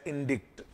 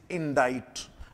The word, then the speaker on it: indict: deal with its pronunciation I have seen some of the people pronounce this words as इंडिक्ट because they see the spelling I एन डी आई सी टी इन बट it's correct pronunciation is इन डाइट नॉट इंडिक्ट वी इंडियंस are generally